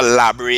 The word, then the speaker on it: La Brea: Because in Patois, Labre is pitch. So it's spelled La Brea, but we say it the Patois way, Labre.